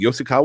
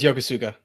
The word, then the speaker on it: Yokosuka: catch a Pokemon as AI was it called Yosuke or something like that part I it was Yokosuka Yokosuka okay I just strung four syllables and